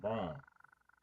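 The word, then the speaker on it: Braun: what's expected of him in this Ro Christian Brun or brown Christian Brown because apparently his name is pronounced brown but looks just like brown right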